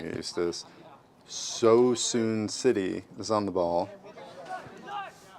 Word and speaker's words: Suisun: How do you How do you pronounce susen? So soon. So soon.